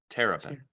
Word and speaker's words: Terrapin: Boomer wasn't there, but that Terrapin or Turpin, how do you say it? Terrapin.